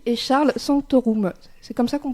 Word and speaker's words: Charles Sanctorum: Avec nous en studio, Jacinta Nabi et Charles Sanctorum. C'est comme ça qu'on prononce vos prénoms à tous les deux et vos noms ?